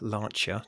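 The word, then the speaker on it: Lancia: the the stuff on lania lancha to give it its correct pronunciation was off the scale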